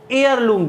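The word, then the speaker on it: heirloom: एयरलूम, ध्यान रखना इसका प्रोनाउंसिएशन होता है एयर लूम।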